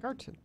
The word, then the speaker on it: Garten: It's no D, it's a T. Garten.